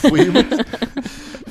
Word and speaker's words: Ouib: A French weeb. I don't even know what you call A that. Fweeb. Weeb. Fucking fweebs. It's a weeb, but it's O-U-I instead of weeb.